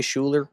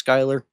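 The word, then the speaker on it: Schuyler: There is a billion and one ways you can pronounce her name. However you want to pronounce it, I don't care. I will always say Scheler. I know it's Skyler.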